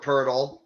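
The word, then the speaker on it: Poeltl: In terms of the guys you listed, honestly, I don't want Jakob Pertl.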